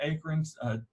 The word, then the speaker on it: acorn: oaks with the giant acorns, using my East Texas pronunciation of acorn, A-K-E-R-N, acorns. And we've got things like chinkapin oaks that do well.